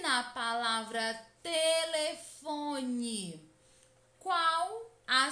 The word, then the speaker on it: telefone: lentamente essa palavra como se estivesse chamando alguém telefone percebam que a sílaba que mais demora a ser pronunciada é